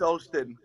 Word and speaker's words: Olsztyn: Oh, it begins with an O. It's in your Olsztyn. Country. What is it? Yeah, it's Olsztyn. Olsztyn. Olsztyn. Yeah, they say Olsztyn.